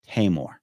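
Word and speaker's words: Taimur: m you are and he said here's how you say it hymore I was like oh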